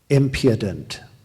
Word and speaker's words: impudent: impedant impudent impudent impudent the accent is on the first syllable impudent impedant impudent there